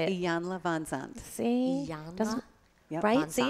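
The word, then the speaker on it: Iyanla Vanzant: Iyanla Van Zandt.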